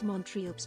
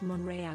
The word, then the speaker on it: Montreal: Now this Montrealed me off so much. Haha. It's French and pronounced Monreal. Squitty. I apologize. The Englishspeaking Canadians in Canada call it Montreal, but you are right.